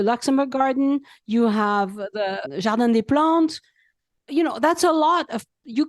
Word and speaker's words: Jardin des Plantes: I had really hoped we were going to go into Jardin des Plantes.